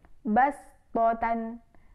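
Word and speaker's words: بصطة: Kemudian yang kedua yaitu pada surah Al-A'raf ayat 69 yang berbunyi basbotan, basbotan. Nah, itu juga kita melafalkan dengan huruf sin.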